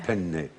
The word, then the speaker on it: penne: If you pronounce do that have to wrongly. do the double penne. Yeah. It's not penne, but Yeah. penne.